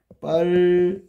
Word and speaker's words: 빨갛다: 얘 발음하면 빨가타가 돼. 그러면 여기서 히읗 더하기 디귿이 티읕이 된 거야.